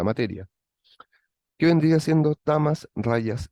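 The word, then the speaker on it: rajas: aspecto que es rayas la J en sánscrito se pronuncia como por lo tanto en este caso es rayas el aspecto rayásico el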